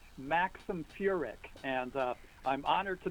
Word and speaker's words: Furek: And you know, everybody sort of gets the pronunciation wrong, but it's Maxim Furick.